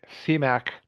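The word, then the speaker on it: CMAQ: There's a concession mitigation and air quality improvement program, which goes by the nickname CMAC, spelled with a Q, but pronounced with a K.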